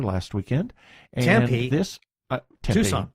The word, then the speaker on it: Tucson: weekend and he this Tucson Tucson yes in Tucson Tucson well it's an Arizona City again for the tea and it has two syllables huh I mean anybody